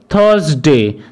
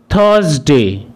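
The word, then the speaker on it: Thursday: এই দিনটিকে আমরা সাধারণত থার্সডে বলে থাকি, কিন্তু এখানে আর লেটারটির কোনো উচ্চারণ করা হবে না, অর্থাৎ এখানে আর লেটারটির সাউন্ড সাইলেন্ট থাকবে। সেই কারণে এই ওয়ার্ড অথবা দিনটিকে থার্সডে না বলে এটিকে বলা হবে থার্সডে। থার্সডে।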